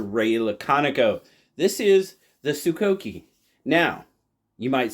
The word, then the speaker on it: Sokoke: This is the Sukoki. Now, you might say, "Why'd you pronounce it like that?